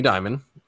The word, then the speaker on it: Dimon: Jamie Dimon.